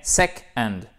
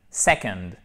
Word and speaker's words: second: Second. Eh bien, il faut quand même le prononcer, hein. C'est pas parce que c'est pas accentué qu'on entend que second. Non, c'est pas second, non, c'est second.